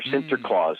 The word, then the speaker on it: Sinterklaas: Now, the Dutch pronunciation of St. Nicholas is Sant Nicolaas, or Sinterklaas, Sant Nicolaas.